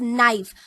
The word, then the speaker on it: knife: We pronounce it as knife. So K is silent letter in this word.